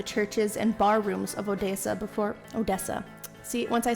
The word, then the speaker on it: Odessa: It's Odessa.